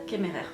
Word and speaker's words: Kemmerer: et éternel de Brigide Kemmerer. Oh, französisch, Kemmerer, c'est bien. Oui, on va prononcer à la française.